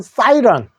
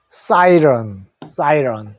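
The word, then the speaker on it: siren: 자, 사이렌, 경적이라는 거. 사이렌이 요 이를 에로 읽으니까 렌이죠. 요거 어로 읽어주면 사이런. 사이렌은 사이런.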